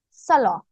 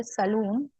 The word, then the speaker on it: salon: pronounced as Salon uh usually n is silent so it is pronounced as Salah okay booking a salon appointment so a salad appointment or a salon or some people say saloon okay so it is